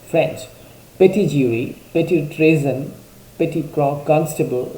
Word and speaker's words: petit: The word petty was first introduced by the jurists from the French word petit, P-E-T-I-T, which is pronounced as petit.